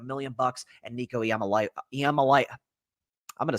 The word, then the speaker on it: Iamaleava: They're going to come in looking like $1 million, and Nico Iamaleava, I'm going to say it right, Iamaleava is going to light the world on fire.